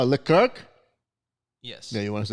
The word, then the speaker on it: Leclerc: We call it Leclerc?